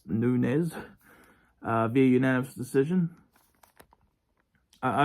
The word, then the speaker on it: Nunes: versus werson Nunez um it spelled like noones but it's I actually wrote a note saying pronounced Nunes uh via unanimous decision